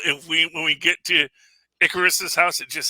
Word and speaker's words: Icarus: Yeah, and just the idea of that the way you're supposed to pronounce it is Icarus. It's not Icarus, it's actually Icarus.